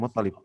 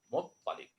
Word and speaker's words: Muttalib: Kita bahasnya Abdul Muthalib, padahal harusnya pakai Muthalib gitu. Muttalib. Satu lagi?